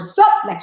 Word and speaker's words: Soplica: spokesperson for the, how do you pronounce it? For soplica.